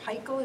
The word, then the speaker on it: Paykel: system from Fisher Paykel our Pikul is the proper way to pronounce it so you have an